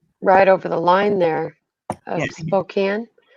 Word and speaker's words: Spokane: Okay, so Spokane, see where right? it's kind of dry. Yeah, see where it's kind of dry, and so between Spokane there. Okay, gotcha. Spokane.